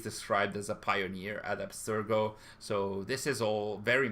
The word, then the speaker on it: Abstergo: the verb absterge uh actually the the proper pronunciation should be abstergo uh that's latent so that's also italian and